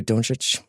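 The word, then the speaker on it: Dončić: we're gonna talk a little bit about Luka don't rich which is like kind of like become I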